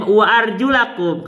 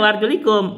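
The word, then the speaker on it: وَأَرْجُلَكُمْ: Bacanya wa arjulakum. Kalimat wa arjulakum apa? Wa arjulakum bukan dibaca wa arjulikum.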